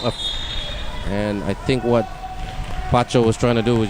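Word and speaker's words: Patio: Her name is spelled P A T I O, but it's pronounced PCO.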